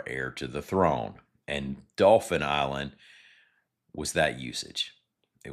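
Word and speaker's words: Dauphin: Remember, Dolphin Island, for those not on the coast, is spelled D A U P H I N. Dolphin.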